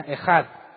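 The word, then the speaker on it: אחד: solo es ecaz bueno en hebreo se pronuncia ejad que se traduce como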